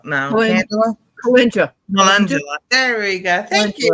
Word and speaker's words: Calendula: It's going to be the day that I cannot pronounce the name. Candula. No, Candula? Calendula.